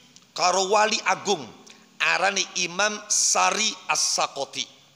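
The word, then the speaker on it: Sari al-Saqati: wali agung arani Imam Sari As-Sakoti. Kalau di Cirebon khususnya kebanyakan bacanya Sirri Sikti. Kalau saya baca di kitab Sari As-Sakoti, nama lengkap beliau adalah Sariyuddin As-Sakoti. Sari kagoni waznan wa maknan.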